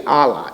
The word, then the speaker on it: Allah: to the same Kingdom in Arabic you say Allah even the Christians over there when I was over there they all say Allah cuz that's how they pronounce the name of God it's the same thing